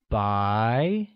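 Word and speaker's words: 白: learn to say white white translates as by which is pronounced with the mid rising tone good here's something you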